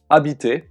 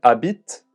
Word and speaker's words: habite: Notice that when a verb starts with a silent H, like this one, it is possible to connect the words together. This is called a liaison.